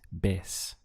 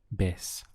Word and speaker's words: vez: So we have otra, and remember this V carries a B sound in Spanish, so the pronunciation is vez, vez.